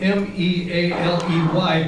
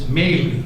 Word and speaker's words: Mealey: It's Mealey, like mayfly, like M-A-Y-L-E-Y. Mealey, Stephen Mealey, that's who we're honoring tonight.